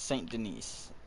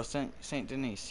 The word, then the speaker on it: Saint Denis: that's strawberry valentine oh saint denise yeah i think it's unlocked uh no that's a trapper no the s is silent i know um maybe